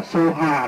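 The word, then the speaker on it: स्वाहा: Tất giang thang sau, thay vì đọc là Swaha, đọc là Soha, là đọc theo Tây Tạng, đó là thần chú về Phật Thích Ca Mâu Ni.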